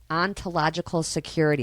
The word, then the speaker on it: ontological security: Ontological security.